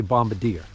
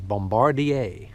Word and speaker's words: Bombardier: you pronounce it a lot of people say bombardier a lot of people think you pronounce this bombardier my understanding is that the correct pronunciation is bombardier all right so they're free for a reason